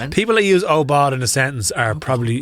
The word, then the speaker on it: aubade: Oard. A u b a d e. Say it. Spell it again.